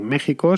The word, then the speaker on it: México: como jiménez bien pues esta es la razón por la que méxico se pronuncia con jota pero se escribe con equis algo similar le pasa también